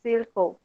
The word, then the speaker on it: circle: isso Alright correto eh esse fonema aí o l le no final da palavra gente quando ten uma consoante mais le ele sempre vai ter o som de ou Ok olha o exemplo